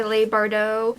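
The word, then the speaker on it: Leigh Bardugo: four books from there six of crows by Leigh Bardot that's how you say her name I actually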